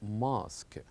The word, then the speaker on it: mosque: is a Mosk and notice here that here we have an exception that this word may ends with you e but they are kept silent as we pronounce this word as mosque very good so and